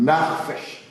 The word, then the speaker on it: nefesh: En hébreu, signifie nefesh. Pour bien prononcer maintenant, c'est narfesh. Narfesh.